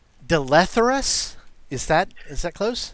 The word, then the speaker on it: Dleatherus: is is it pronounced delay therus is that is that close it's I guess I pronounce it de letras the letters is how I pronounce it and it goes by